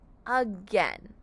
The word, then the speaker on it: again: to say uh and we have an a i in the middle that's going to say the sound of e like the letter e to make the word n again for example can we